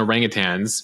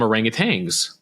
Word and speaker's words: orangutan: so uh I just looked up humans and orangutans share 97% DNA they're not our closest relative